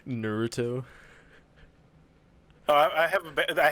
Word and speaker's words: Naruto: already gonna say something it's naruto please what did i say naruto oh i have a